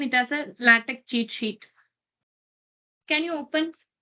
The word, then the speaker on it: LaTeX: cheat underscore sheet flattex latex cheat sheet and always pronounce latex as a lactic that is what it's mentioned here latex not latex so if it's a